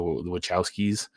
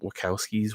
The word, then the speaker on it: Wachowski: Um, Wachowskis would I think it's Wachowskis with with a c I mean I know it's spelled with a ch but I'm pretty sure it's Wachowskis.